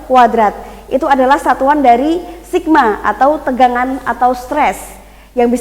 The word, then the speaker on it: sigma: Itu namanya adalah sigma. Bacanya apa?